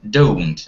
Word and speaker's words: don't: You should rather pronounce it like not don't, but don't. A little bit like with O. Don't.